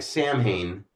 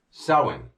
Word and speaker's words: Samhain: out of that now this being spelled s a m ha a i n and looking like Sam Hayne think of when now it it's pronounced like this sin or SE So when you say